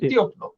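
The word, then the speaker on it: тепло: তেবলো, আর এটার উচ্চারণ কি? তিয়পলো।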